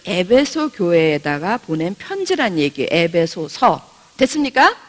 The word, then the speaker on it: 에베소서: 그래서 예배소서 아니고요, 에베소서.